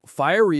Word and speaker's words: fiery: Oh, fiery is the perfect word. Fiery. Firey. The stress is on that first part.